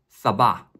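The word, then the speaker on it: سبعة: 표시입니다 행운의 7을 생각하고 외워 보겠습니다 7 아랍어 발음으로 는 사바 사바 다음은 팔 팔은 한자 여덟 팔을 연상해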